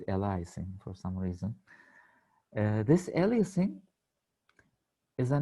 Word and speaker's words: aliasing: think what you say is correct but the pronunciation uh in the correct ways is aliasing actually but yes what you mean is yeah we were calling it aliasing or eliasing as many turks say somehow i don't know